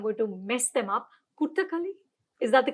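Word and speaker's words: Kottukkaali: Kuttakali, is that the correct pronunciation? Kottikali. Kuttakali. Kottikali.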